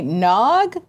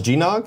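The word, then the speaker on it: Gnog: games we're giving away nog which apparently I've been pronouncing wrong I don't know he does G nog yeah I swear someone told me that and I don't remember who I think maybe you just heard somebody else pronounce it G nog similar to how the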